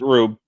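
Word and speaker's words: R/B: That's how it's pronounced, Rube. Really? Yeah. I mean, I always called it Red Blue, but like it's always like labeled as RB,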